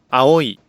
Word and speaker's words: 青い: Each is pronounced in a short, clear, evenly stressed fashion. Here are some examples of vowel sequences. はい、 Yes, 上、 top, 思う、 thinks, 青い、 is blue, 前、 front, 家、 house, 田植え、 rice planting, 具合、 condition. Note that there is a syllable, an even space of time for each vowel.